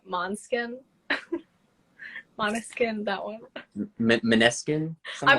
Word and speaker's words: Måneskin: I hear them, I think, yeah, like I think it's pronounced Måneskin because they say, "Hey, we're Måneskin."